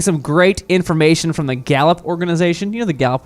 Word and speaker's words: Gallup: Not Gallop, but right. Not or Gallip. No. Or Gallap. Nope. Or Gallouap. No, I wouldn't have thought to spell it like that. But you spell it Gallup.